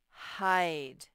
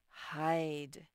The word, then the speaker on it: hide: he's saying that so he's silent but you know he's there because it says i hide hide so that's for the